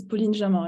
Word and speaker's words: Pauline Jamin: Yes, it's Pauline Jamin. It's French.